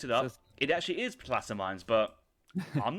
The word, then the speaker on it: placer: It's like, for example, somebody in the chat once said, "Oh, placer mines is pronounced placer mines." I looked it up. It actually is placer mines, but I'm not changing it because I've said that for 15 years.